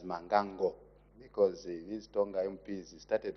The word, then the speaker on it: Mbangango: Speaker, and I appreciate that you are pronouncing it correctly as Mangango, because these Tonga MPs started laughing at my constituents because of the earlier mispronouncement.